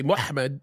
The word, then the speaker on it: Muhammad: How do you pronounce MHMD in English? Well, you'd say Mohammed, and that's what we would say. It's a slightly different in Arabic.